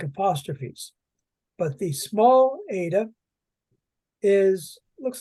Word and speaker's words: eta: the letter Z Zeta the next one is the Ada and this is a long e sound Ada and it looks